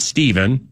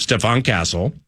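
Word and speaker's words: Stephon Castle: Yeah, then they have not Steven, but Stefan Castle.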